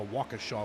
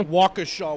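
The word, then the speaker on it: Waukesha: looking for the nearest or the soonest to Walker Shaw Wisconsin well it only take you three weeks to get that pronunciation right but you got it you got it yeah Walker Shaw Wisconsin it took me not three weeks it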